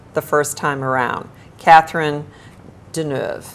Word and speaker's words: Deneuve: Catherine Deneuve. Deneuve, absolutely.